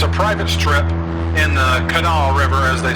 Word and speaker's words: Kanawha: It's a private strip in the Kanawha River, as they say in Chesapeake, West Virginia. Looks like it's pronounced Kanawha, I'm not sure, but I'm going to go with what the locals say, the Kanawha.